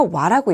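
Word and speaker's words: は: 이 글자가 조사로서의 역할을 할 때는 하가 아니라 와라고 읽힙니다.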